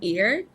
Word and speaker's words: year: so some good stuff she had a mispronunciation with year where she said like ear or something let's just check that